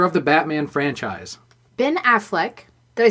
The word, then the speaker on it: Affleck: Ben Affleck, did I say it right this time?